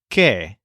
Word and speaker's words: que: Spanish language the word K which means that this word is pronounced kind of like the English letter K but it's actually spelled